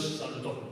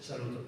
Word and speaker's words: saluton: Todas las palabras tienen el acento sobre la penúltima sílaba. Cuando habéis visto antes saluton, no es salutón, es saluton.